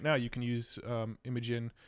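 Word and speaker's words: Imagen: you can use um imagin I know it's probably pronounced imagine I still call it imagin I have a hard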